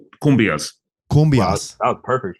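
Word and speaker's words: cumbias: you mentioned kumas earlier right so let's say kumas Kum that was perfect right thank you was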